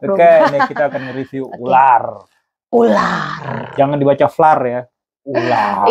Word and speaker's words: Vlaar: U ditulisnya V gitu. Tapi dibacanya U. Oke, Ular ini sedikit cerita aja ya.